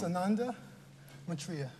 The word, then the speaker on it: Sananda Maitreya: Now, your new name, pronounced Sananda Maitreya. Sananda Maitreya, what's it?